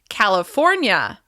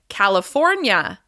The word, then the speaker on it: California: Next, California. California. As you can hear, we're stressing the third syllable. California. California. Be sure not to add an extra syllable to the end of California. California. California.